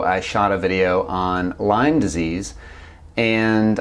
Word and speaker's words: Lyme: shot a video on Lyme disease and I misspoke um a few times by pronouncing it limes disease now I'm going to